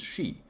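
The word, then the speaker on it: し: unlucky number in Japan due to it being pronounced as Shi which is a harmonium for death luckily for them it's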